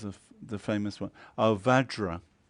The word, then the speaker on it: Vajra: the famous one our Vajra the Tibetans can't save Andhra so they say Benza on Benza home you